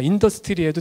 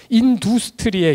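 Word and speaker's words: Industrie: 인더스트리에도 틀렸구나. 인두스트리에 이렇게 발음하셔야 될 것 같습니다. 이거 독일 말인데 이거 인터넷에서 검색 한번 해보세요.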